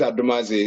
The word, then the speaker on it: Adomadzi: to many people but they know how to pronounce it my name is adamazi it's something that grace has given and i'm